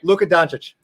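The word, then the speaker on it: Luka Dončić: Luka Doncic. Oh, you pronounce that one good.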